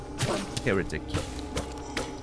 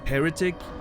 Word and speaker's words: heretic: Yeah, pronunciation's the main thing where people can help with. Heretic.